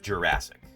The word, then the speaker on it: Jurassic: the general public had ever heard the word Jurassic before Jurassic Park and we're not all saying it wrong clber it's pronounced Jurassic it is so these are Tyrannosaurus Rex and